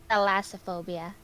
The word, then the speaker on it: thalassophobia: You said it right. It was thalassophobia.